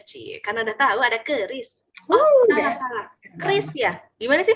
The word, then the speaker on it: QRIS: Ya emang sih tulisannya tuh QRES atau Quick Response Code Indonesian Standard, tapi bacanya jangan pakai Q, bacanya pakai Kris. Oh, jadi langsung aja ya. Iya, jangan pakai Q gitu.